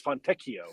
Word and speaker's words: Fontecchio: It's not FONTECCHIO. It's not fettuccine. It's FONTECCHIO.